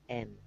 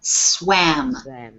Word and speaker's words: swam: Yes, SWAM. Yes, and we pronounce that swam. Swam. Swim, swam, swum. Exactly. But Okay. for me, the pronunciation is. Yes. Yeah, you got to get that ah sound.